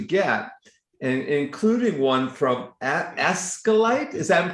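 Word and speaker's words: ASCILITE: He has gotten the awards that everyone else wants to aspire to get, and including one from Ascalite. Is that pronouncing that right, Tom? Yes, Ascalite, the Australasian Society for the Improvement of, what is it?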